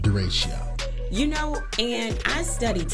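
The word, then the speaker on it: derecho: say the word i kept calling it a dirac oh i kept following uh uh dirichlet storm and finally somebody who loved me enough said it's pronounced duration and i said okay but speaking of it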